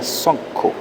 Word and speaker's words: sunku: Y en el tercer ejemplo tenemos sunku. Se pronuncia sonku, eh, corazón. Eh, la u se abre hacia la o incluso hacia la otra variante de la o.